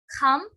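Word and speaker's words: jamón: So, J in Spanish is pronounced as kh. Okay, so it's kham.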